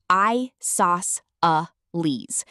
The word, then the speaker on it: isosceles: This is an isosceles triangle. You can say it like I sauce a lease.